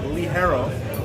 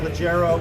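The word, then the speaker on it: ligero: eyes fuller body lead herro lig e ro pronounced Willy Harrow black chrome outlet 3x Rove not Leggero arrow you can pronounce whatever you want to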